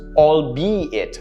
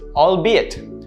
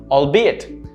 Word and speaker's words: albeit: that you use this usually pronounced albeit incorrect this is not how you pronounce it it doesn't have two syllables it has three it's pronounced all be it albeit albeit that's how it's pronounced